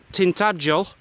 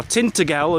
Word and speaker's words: Tintagel: And up there is Tintagel, 3 miles. Or Tintagel, as a lot of people call it, pronounce it wrongly.